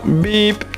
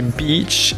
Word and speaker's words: beach: sait t que vous avez tendance à dire bip mais on dit Beach et ça se prononce I et au niveau du son faites